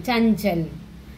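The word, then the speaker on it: चंचल: Because of Cha, Cha, Cha, Ja, Ja, Nya pronunciation, Chanchal.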